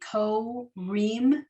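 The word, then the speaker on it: קוראים: so in this case, this word is going to be ko-reem because you have the first 2 letters make ko, and that's the end of the syllable. Then the resh is the beginning of the next syllable, but it goes with the silent ayin.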